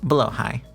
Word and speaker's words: Blåhaj: So, to compromise, in this video, I'll be using the Swedish style of pronunciation, but with my silly American accent, blowh high. Did you know that the Blowhai we know today wasn't IKEA's first Shark plush?